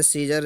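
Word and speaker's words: Caesar: अब इसमें देखो, ए जो है ये आपका साइलेंट है, इसका ये सीजर का मतलब होता है जी रोमन सम्राट।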